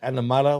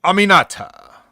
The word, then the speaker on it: Aminata: And how do you pronounce it? Animata, whatever you're talking about? Aminata.